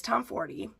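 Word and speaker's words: Tomforde: along and by Liz Tom 40 yes it is Tom 40 as in the number 40 okay that's how you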